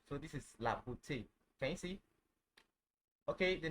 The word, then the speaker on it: beauté: Okay, it's pronounced A. A. Like if I have the word like excuse me, if I have the word beauté, la beauté, la beauté, beauty, the beauty, right?